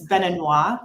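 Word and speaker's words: béninois: English it's benan okay in French it's beninois for a man or general and then for a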